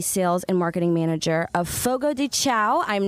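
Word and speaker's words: Fogo de Chão: Well, it's Brazilian Portuguese, so it's pronounced Fogo de Chao.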